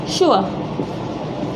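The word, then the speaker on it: sure: अब देखिए इसके लिए हम शो, यहाँ पर जो स है जब हम इसको प्रोनाउंस करते हैं तो वो श, यानी कि SH वाला स बन जाता है, श।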